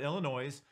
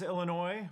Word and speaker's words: Illinois: New Athens Illinois we we have agreed that Illinois probably should have the S pronounced again so we do call it Illinois um uh really tiny